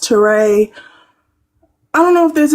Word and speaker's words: Touré: It's pronounced Touré.